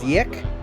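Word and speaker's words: Ziyech: uh Z's name incorrectly it's not zet it's zek or zek I believe Isaac I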